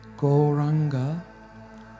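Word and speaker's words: Gauranga: you what's the potency goranga has four syllables go round on God we are actually now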